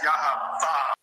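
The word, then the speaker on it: יה: And the proper pronunciation of that is Yah.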